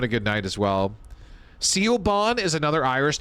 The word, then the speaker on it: Siobhan: Siobhan? Siobhan? Like Cinnabon? Siobhan? Shrimp Creole? You said it wrong. Okay. Well, thank you, Jujubee girl. Nope. Okay. Siobhan? Shavon. Oh my god. What part of Siobhan is supposed to be Shavon?